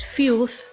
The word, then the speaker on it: filth: The TH, that is the last two alphabets, is th sound and not T. It is th. When pronouncing this word, you lift your tongue in a manner that it's gonna be touching your upper teeth. It is pronounced as filth and not filth.